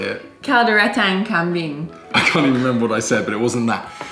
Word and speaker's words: Kalderetang Kambing: Kaldereta Kambing. I already know this is gonna be so hard to pronounce. Go on. How do you say it? Kalderetang Kambing.